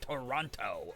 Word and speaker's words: Toronto: So yeah, if you pronounce the second T, you're Yeah, you're a cop. Hey, you kids know of any drug dealers? I'm looking to get a fix here in Toronto.